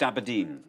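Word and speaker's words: abrdn: It's now called Aberdeen. No. But still pronounced Aberdeen.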